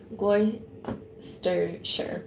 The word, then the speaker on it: Gloucestershire: So it would be pronounced Gloucester, Gloucestershire.